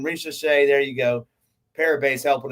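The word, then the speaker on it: Risacher: Yeah, I hear Hebrew Cheetah say his name, Risha Shea.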